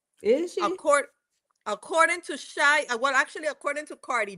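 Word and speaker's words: Xia: Her name is Sia. X I A. No, but Shia Shia, that's how she pronounced it. Shia, but it's X I A.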